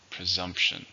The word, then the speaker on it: presumption: How many syllables are in presume? 2. Stress on the second.